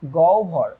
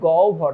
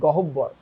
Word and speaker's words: গহ্বর: আচ্ছা দেখো একটু খেয়াল করো, যেসব ধ্বনি উচ্চারণের সময় মুখ গহ্বর, এটার উচ্চারণ কিন্তু গহ্বর, নট গহ্বর, গহ্বর, এগুলো কখন হয় এটা আমি একটু পরে শিখাই দিতেছি।